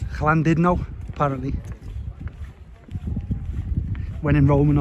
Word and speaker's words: Llandudno: Llandudno, sorry, I keep saying it wrong. Been pulled up on that by people in the hotel. Say it's not Llandudno, because I just say it as it reads to me, but it's Llandudno apparently, when in Rome and all that.